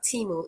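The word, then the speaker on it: Temu: Timu, pronounced Timu, is based in Boston, Massachusetts.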